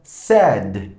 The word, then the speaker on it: said: algo muy importante Okay el pasado del verbo say se pronuncia diferente al pasado del verbo p aquí tenemos say pero el pasado se pronuncia Sad Sad Pay si se